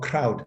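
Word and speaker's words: Ckrowt: africa tech and solutions so crowd spells as c-k-r-o-w-t and i think this k is actually fusing his letter that begins his name coyote right so um yeah crowd pronounces as cr owd is a video monetization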